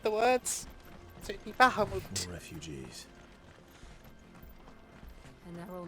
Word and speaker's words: Bahamut: It's just, you know, it's made by Japanese people, so I use kind of like a Japanese pronunciation of the words. So it'd be Bahamut.